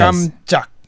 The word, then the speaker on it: 깜짝: It's supposed to be 깜, but it sounded like 감, and it's supposed to be 짝, and it sounded like 작. So you have to emphasize each syllable a bit more. Yes. 깜짝.